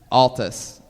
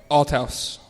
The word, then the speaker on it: Althaus: I'm gonna say Altus. Nope. Althos. How would you say it? Althouse. Althaus? Althouse. Althaus? With a T.